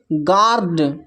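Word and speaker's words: guard: इसका जो उच्चारण हो रहा है गिटार, यू साइलेंट है। फिर है यहाँ पर गिल्ट, फिर है गार्ड, फिर है गेस्ट, फिर नेक्स्ट है बिस्किट, फिर है बिल्डिंग, फिर नेक्स्ट है सर्किट।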